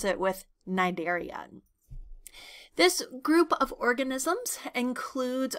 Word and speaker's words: Cnidaria: that word phm nider I'm purposely not saying the C so that c is silent so you you can kind of pretend like it doesn't exist and you just pronounce it with nidaria this group of organisms